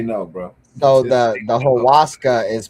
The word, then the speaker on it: ayahuasca: So the ayahuasca is pronounced Waska, okay.